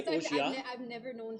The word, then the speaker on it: Orgeat: make yourself a macadamia Orgeat, you can do that too. It's super easy. Just so you are supposed to pronounce the E. Really? Oh, no, I'm asking because you're like Orgeat. I say Orgeat.